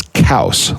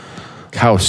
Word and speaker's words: Coues: / French pronunciation of his last name is cows like house cows deer cows there you'll